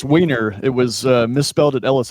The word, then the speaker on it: Wiener: And I don't want to mispronounce his last name. what is your last name, brother? It's Wiener.